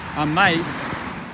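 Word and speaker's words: amáis: Well, amais, that would be an exception, but that's indicated with an accent, because exceptions to this rule will be indicated with those written accents. So this is a written accent on the I.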